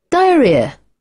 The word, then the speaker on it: diarrhea: Diarrhea, wow, great, ডায়রিয়া, diarrhea, ডায়রিয়া। হালকা করে মানে ছোট্ট আ, ডায়রিয়া, ডায়রিয়া, Diarrhea.